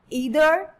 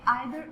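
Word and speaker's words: either: Pronunciation जो है इसकी ईदर भी ठीक है और आइदर भी ठीक है, नीदर भी ठीक है और नाइदर भी ठीक है. तो both of द pronunciation are correct.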